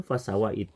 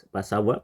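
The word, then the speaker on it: فسوى: berbunyi alladzi khalaqo fasawa pengucapan fasawa menurut aturan tajwid itu tanpa disertai gunah apabila kita merubahnya menjadi bacaan yang ada gunahnya maka kita kita dianggap telah melakukan kesalahan kfi contoh harusnya fasawa fasawa kata fasawa dibaca tanpa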